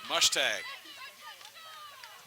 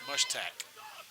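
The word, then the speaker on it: Mushtaq: And a shot that goes wide well off the left post is Mushtag. That's actually pronounced Mushtack. Or Mooac, not sure.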